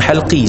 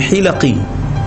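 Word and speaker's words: حِلَقي: Sebenarnya bukan halqi, sebenarnya hilaqi. buat bulatan dalam masjid, buat halaqah zikir dalam masjid, buat halaqah bentuk bulat, ganggu orang nak duduk saf depan. Dia baca halqi, sebenarnya hilaqi, ejaan sama, baris salah kan.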